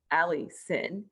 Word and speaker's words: Allycin: is allison and my name is spelled absolutely bonkers it is a-l-l-y-c-i-n ali sin and uh allison